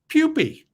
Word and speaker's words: pupae: And if you have more than one pupa, you have a pupae.